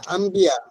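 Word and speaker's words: أنبياء: জি, এনে আছে আনবিয়া, আলিফ নুন বা ইয়া আলিফ, আনবিয়া। উচ্চারণ হয়েছে আম্বিয়া। খটকা লাগছে। আম্বিয়া, ঠিক আছে তো, আম্বিয়া। এখানে এই এখানে যে মনে ওই করেন একলাভ হয়েছে, একলাভ। একলাভ হয়েছে, আম্বিয়া। একলাভ হয়েছে। মানে নুন সাকিনের পরে বা আসার কারণে ওখানে নুন পরিবর্তন হয়।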